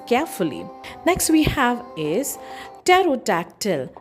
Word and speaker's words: pterodactyl: Next we have is terodotactyl spelled as P T E R O D